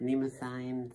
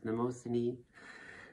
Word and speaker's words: Mnemosyne: This one, Goddess of Memory, sometimes pronounced Mnemosyne, sometimes Mnemosyne. You can choose yourself.